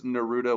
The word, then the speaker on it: Naruto: That the whole time that you've been making fun of it, that it actually is Naruto. We've just been saying Naruto, so you'll be saying it correctly the whole time.